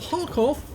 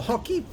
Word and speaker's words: Kharkiv: It's located on the north spawn of Kharkov, or Kharkiv, I think is the correct pronunciation, and it's under the command of Zyriakster.